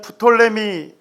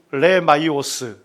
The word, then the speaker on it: 프톨레미: 피가 묵음으로 될 때가 많거든요. 그 톨레미 장군이라고도 하고, 그 다음에 또 그걸 또 그리스어로 발음해서 프톨레마이오스 이렇게 부르기도 합니다.